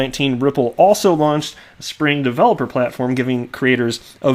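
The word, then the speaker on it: Xpring: you call some are spring how many people out there when they saw spring which is spelled XP are ing how many people said X praying like a hundred percent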